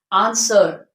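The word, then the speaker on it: answer: मैंने कुछ एग्जांपल यहां पर लिख दिए है आंसर आंसर वि डब्लू साइलेंट सर्ड इ no sword it is sort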